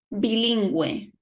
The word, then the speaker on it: bilingüe: Pingüino, pingüino, or bilingüe, bilingual, bilingüe. We pronounce the Y, the U, and the E, bilingüe.